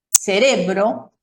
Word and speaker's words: cerebro: los heteroprosódicos, es decir, palabras que son semejantes o iguales en ambos idiomas, pero que se pronuncian de una manera diferente. Y yo aquí tengo 3 ejemplos: policía, cerebro y democracia.